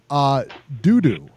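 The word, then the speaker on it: Doudou: Dudu. D-O-U-D-O-U. Ngumbu. That's his name, and that's how they pronounce it.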